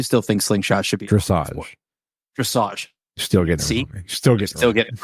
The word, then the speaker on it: dressage: It's not dressage; it's dressage. I'm like, that's how Carrie called you out on it. How do you spell message? Yeah, it's spelled the same way, but apparently it's pretty cool.